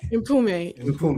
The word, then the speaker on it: Mpume: Pume is her name. What's her name? Impume. M P U M E. Impume. I thought it was Pume just with a silent M. It's imp.